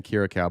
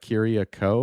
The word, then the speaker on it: Kiriakou: I keep saying Kirikow, but it's like Kiriakou or whatever.